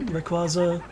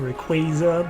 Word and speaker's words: Rayquaza: Do you remember Rayquaza? Right, some people pronounce it Rayquaza, but that just sounds weird.